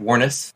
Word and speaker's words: Warnes: All right, we're back with Warnes. Am I saying that right? I always forget. Warnes, right? Yeah, you're getting it. Warnes.